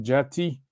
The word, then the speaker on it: djati: une galette donc ça ça se prononce tati le thé va devenir dj donc on va dire le mot djati ou dit en wolof